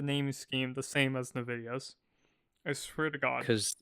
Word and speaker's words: Nvidia: Do you call Novideo or Nvidia? Nvidia. Novidia. I've heard it's supposed to be pronounced Nvidia, but I pronounce it no video cuz American uh bad GPU company.